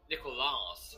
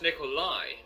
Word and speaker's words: Nikolaj: Also, why is it people can't pronounce my name? Nicolas. It's like, I'm not a fucking collage. Where is S in your name? No, that's not. But you just said Nicolas. Yes, because that's how people pronounce it for some reason. No, Akram was saying Nicolaj. Yes, but it's Nikolai.